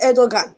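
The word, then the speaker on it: Erdoğan: That is what education system looks like under this Erdogan right now. Whatever they pronounce, I pronounce him as Erdogan, according to how it is spelled.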